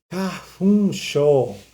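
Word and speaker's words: 花粉症: Cafuncho. Cafuncho. Alergia a pólen. Detalhe de pronúncia, tá? F-U. Né? Ele é pronunciado diferente, não é fu.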